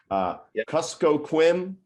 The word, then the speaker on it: Kuskokwim: Kuskokwim Delta Tribal Broadband Consortium.